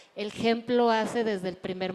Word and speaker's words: hemp: Se escribe H-E-M-P, pero se pronuncia hemp, es en inglés, pero en español es cáñamo industrial.